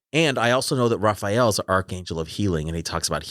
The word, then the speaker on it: Raphael: i also know that raphael is an archangel of healing and he talks about healing and so i think it was the archangel but he pronounced his name to me rafael now i'm also gonna